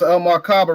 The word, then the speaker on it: El Markaba: It's El Markaba, rhymes with Majako Saba.